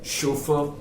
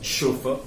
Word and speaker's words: chauffeur: is a chauffeur uh it doesn't begin with the sh it is with the ch the origin again is in the french language uh where the word